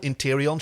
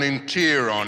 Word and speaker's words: Interion: is it interon well it's spelled interion she says but it's got a silent eye in the middle well it's called an interon the interon interon why